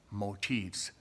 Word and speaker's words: motif: to talk about are motifs that's I think that's how you pronounce it it's more than one it's mo ti BES if there's just one it's called a motif mo TI f and